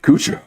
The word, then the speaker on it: Kudrow: Kudro.